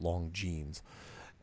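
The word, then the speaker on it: Longines: Khurana scope which is spelled L o ng ine s but it's pronounced long jeans and I think it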